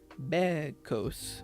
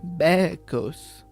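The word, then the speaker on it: bekos: the goats were saying first remove the co ending which was added in the Greek version of the story then pronounce be as you would the English word bed without the without D at the end can you hear a goat b b bed bed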